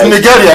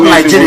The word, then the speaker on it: Nigeria: pronouncing it well, like the real pronunciation, which is Nigeria. It's Nigeria. That's not Nigeria. People... Nigeria is anglicized. It's Niger area.